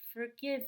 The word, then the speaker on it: forgive: then down on me forgive me because in the word forgive we do stress the second syllable since it's a verb despite my poor decision